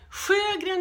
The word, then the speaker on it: Sjögren: They say that you should pronounce it like Sjogrens syndrome. Sjogren, Sjogren, Pravda, Russia. This isn't Russia. I'm sorry, but no, we are not that far east.